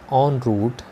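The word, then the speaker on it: en route: Which was, जो कि था, ऑन रूट टू चंपारण. तो देखिए इसका उच्चारण है ऑन रूट, भले ये ई एन से शुरू हो रहा है, लेकिन जो इसका उच्चारण होगा वो होगा ऑन, ऑन रूट.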